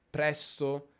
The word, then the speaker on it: presto: presto e la sillaba accentata è press. Senti come rispetto a domani alzo e molto presto è leggermente più lunga. Domani mi alzo presto. Presto. Domani alzo presto. Quindi si allunga leggermente la sillaba press, nello specifico la consonante s.